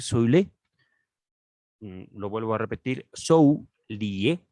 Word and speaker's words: Soulié: Nos dice el traductor Frédéric Soilé, lo vuelvo a repetir, Zhou Lié, con acento en la E, vivió de 1800 a 1847.